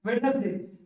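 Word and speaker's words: Wednesday: इसको क्या बोलते हैं, वेडनेसडे, वेडनेसडे भी बोलते हैं, वेडनेसडे भी बोलते हैं, कोई दिक्कत नहीं है, दोनों बोलते हैं, ठीक है, वेडनेसडे, ठीक है।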